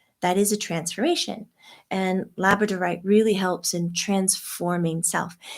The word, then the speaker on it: labradorite: labrador dog Stone and now we're both not pronouncing it right labradorite labradorite there you go it's very